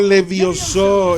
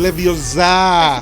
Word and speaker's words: Leviosa: It's not Levioso, it's A Leviosa.